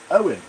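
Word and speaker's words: Eoin: Owen. Yeah, you didn't spell his name. Yeah, it it's spelled E O I N. So, yeah, it might be Owen.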